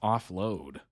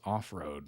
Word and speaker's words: Offroad: offload apparently it's pronounced offload which I thought it was off-road because it's spelled like that but apparently it's said a little differently um Tik Tock compilation